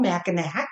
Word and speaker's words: Mackinac: Michigan oh yeah on Mackinac Island it is spelled like it should be called Mackinac that's right it is not the original Murdick's fudge